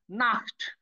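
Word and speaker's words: Nacht: দেখেন আমি প্রথমেই বলেছিলাম যে সে হার আগে যদি আ থাকে তখন খর মতো উচ্চারণ করতে হবে, অর্থাৎ নাখট, নাখট মানে রাত্রি।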